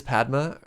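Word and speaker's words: Padmé: Padme, really? Like Pokemon. Huh. Padme. There's an emphasis?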